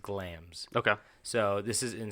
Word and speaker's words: Glamis: It's Glamis, but it's pronounced Glams.